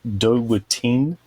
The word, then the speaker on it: Dowutin: I've seen this many times, but never figured out a good pronunciation for it, but it's Dowutin.